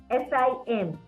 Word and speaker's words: sim: S-I-M. The pronunciation is sim.